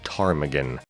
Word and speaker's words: ptarmigan: But other animals were on the list as well, including moose, rabbit, porcupine, lynx, grouse, and this thing, which Google insists is pronounced ptarmigan.